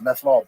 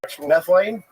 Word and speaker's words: methylene: And then I stumbled upon uh was it methanol blue? Yeah. Do you take methanol blue? Yeah. Is that legit? I keep saying that's not how you say it. What is the methylene? Methylene. Methylene. Methyl. Methylene.